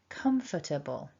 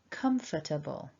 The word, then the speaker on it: comfortable: it all back together remember we need to stress the first syllable repeat after me nice and loud comfortable comfortable and orthographically again here